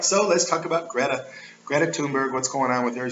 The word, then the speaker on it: Thunberg: It's all about the Greta Thunberg, right? Thunberg. It's a TH, but just pronounce the T, you ignore the H.